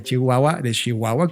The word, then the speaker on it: Chihuahua: Ya habíamos platicado un poco de Rubén cuando justamente estaba yo invitado por una agencia de Chihuahua, como correctamente se pronuncia.